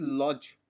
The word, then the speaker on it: lodge: Now, other word is lodge. Get converted into 56 and not 516. As spelling of lodge is L-O-D-G-E. But D is silent when we pronounce it.